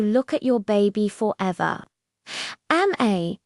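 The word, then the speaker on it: amae: Ame, pronounced am-a, was first described by Japanese psychiatrist Takeo Doi.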